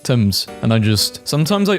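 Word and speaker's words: Thames: Sometimes I'm reminded that the name of the river Tames is pronounced Tames and I just sometimes I also think about all the people who learned how temps is pronounced from this post and will always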